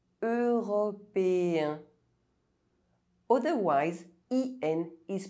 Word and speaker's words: européen: Européen. Otherwise, EN is pronounced en.